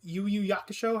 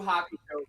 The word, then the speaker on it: Hakusho: The was it Yu Yakusho? I don't even know how to pronounce it. I don't Yu even. Yu Hakusho, bro.